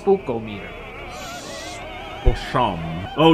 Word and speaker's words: Spookometer: spook oh meter spechometer no no no it's pronounced spooko meter or some oh it's getting spooked oh no